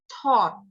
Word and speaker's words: taught: A dan U dibaca O. Jadi O, G-nya jangan dibaca. Langsung T. Taught.